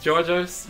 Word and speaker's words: Georgios: this next chapter um we need to recognize that's not how it's pronounced it's not the gorgeous sword it's Georgios but Lola says gorgeous um